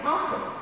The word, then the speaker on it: office: But here it's office. I'm sitting in my office. It's not office.